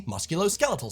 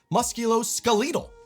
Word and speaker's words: musculoskeletal: In America, this is skeletal, pronounced just like skeleton. And this is the musculoskeletal system. In the UK, you'll find many people pronounce it musculoskeletal, which sounds so funny to me.